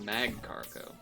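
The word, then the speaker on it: Magcargo: macargo at some point I always get that thing's name wrong mag cargo mug cop Mar cargo. I think it's mag cargo like magma.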